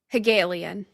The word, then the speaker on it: Hegelian: Hegelian.